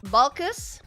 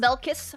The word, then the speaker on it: Balkus: It's pronounced uh Balkus. Uh not Belus, Balkus.